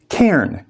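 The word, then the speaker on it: cairn: that's getting in my way I am bushwhacking K it is pronounced k c a i r n this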